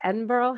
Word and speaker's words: Edinburgh: It's like Edinburgh. How do I say it? Edinburgh.